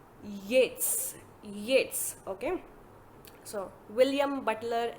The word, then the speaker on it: Yeats: Yeats, it's not Eats. I know a lot of students will pronounce it as Eats. It's not Eats, it's W.B. Yeats.